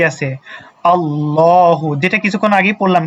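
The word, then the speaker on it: اللهُ: আল্লাহু যেটা কিছুক্ষণ আগে পড়লাম কিন্তু আল্লাহু লামের উপরে কি আছে? খারা জবর আছে। আর যদি খারা জবর থাকে তাহলে এক আলিফ টানতে হবে। সেজন্য পড়বো কিভাবে? আল্লাহু আল্লাহু। আমার সাথে যারা যারা দেখতেছেন সবাই উচ্চারণ করেন তাহলে সহজ হবে। আল্লাহু আল্লাহু তারপরে হচ্ছে কি আর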